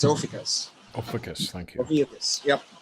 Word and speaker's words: Ophiuchus: It's Ophiuchus.